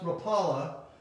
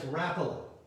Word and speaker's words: Rapala: rappala lures a lot of you think it's pronounced rapala but it's rapala and um i'm sure they have a website